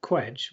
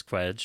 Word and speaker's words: Cwej: And speaking of Chris Cwej or Chris Cwej, depending on... Yes, I think he pronounces it Cwej in this book.